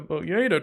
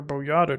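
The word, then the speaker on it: Boyahda: sorts of good stuff see the boa tree or boata tree I've heard it pronounce both ways uh has an area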